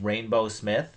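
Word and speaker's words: Rainbeaux Smith: rainbow this is badass rainbow is spelled r a i n b e a u x like the Cajun like or French or whatever that would be rainbow Smith I think that's cool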